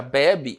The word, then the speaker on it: bebe: Então, em bebê, a sílaba tônica está na última sílaba, que é qual? Aqui, ó. O B com circunflexo, né? Já a palavra bebe está na penúltima.